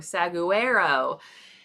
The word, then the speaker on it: saguaro: And most people, when I ask and I show them that word without saying it first, it's saguaro or saguaro. It's saguaro.